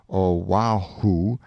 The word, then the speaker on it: Oahu: of this group of islands Oahu and molai pronounced Oahu and molai on the morning of the 18th